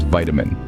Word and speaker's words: vitamin: pronounced tomato then there's vitamin Americans stress the first syllable and pronounce the second syllable like Min like in minute but Brits stress the second syllable and pronounce the I like in it and let's not forget